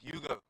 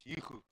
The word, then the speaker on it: Hugo: That is why Stefan Hugo is not Hugo, he's Hugo.